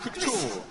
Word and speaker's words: couture: goes into it's almost couture, but not quite. Sonia, can you please Just to repeat, explain. how do you pronounce this thing? Please, couture. Please struggle. Twist your tongue 2 times and say cute.